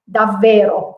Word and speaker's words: davvero: Whereas I say to you, don't pronounce the double consonant, then I don't pronounce it in Italian, but I know that I should pronounce it. So it's davvero, okay?